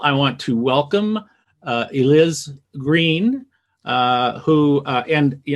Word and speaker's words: Eliz Greene: first of all i want to welcome uh eliz green uh who uh and you know and i think i pronounced your name right right you did he